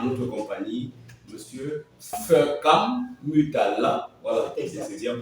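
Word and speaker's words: Foekam Mutala: Nous allons donc aujourd'hui avoir à notre compagnie Monsieur Fekam Mutala, voilà, c'est bien prononcé comme ceci.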